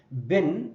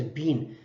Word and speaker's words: been: is ongoing so being bin is the third form of B it's pronounced not as being as bin have been right but